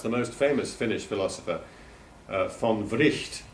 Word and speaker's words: von Wright: most famous Finnish philosopher, von Wright. He is pronounced in Finnish, not right, but Wright, because he was a Swedish speaker, and that's the way his name was pronounced in Swedish, von Wright.